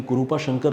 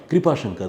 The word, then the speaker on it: कृपा शंकर: उन्होंने कहा है कि कुरूपा शंकर नहीं कृपा शंकर। दीपिका जी कृपा शंकर तो इधर नॉर्थ इंडिया में होता है। बेसिकली उसको कुरूपा शंकर ऐसा प्रोनाउंस करते होंगे शायद साउथ इंडिया में।